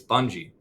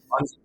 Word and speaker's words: Bungii: It's Bungie. Bungie. Yes. Bungee cord.